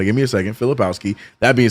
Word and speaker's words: Filipowski: That's Flipkowski. Kyle Flipkowski. However you say his name. Filipowski. There it is.